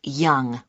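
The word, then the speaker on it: Yonge: Yes, it's Young. J.H. Young. That's... That's spelled Y-O-N-G-E. That's Young. I see.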